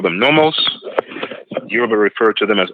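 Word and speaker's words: Nommos: The Dogons called them nomos, spelled N-O-M-M-O-S. The Yoruba referred to them as Olukun, that's spelled O-L-U-K-U-N, as in Nancy.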